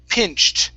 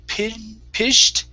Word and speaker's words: pinched: Here we have the word pinched. Okay, this is a CH sound instead of pished.